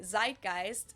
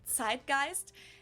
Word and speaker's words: Zeitgeist: some other languages too Americans usually say Zeitgeist in German we pronounce it TI gist and this consists of